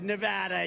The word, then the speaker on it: Nevada: we love it and you always have to say it correctly Nevada you got to call it Nevada with thousands proud hardworking